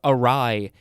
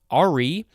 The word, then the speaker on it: awry: Next we have awry, AWRY. It looks like it would be pronounced Ari, but that's not how it's pronounced.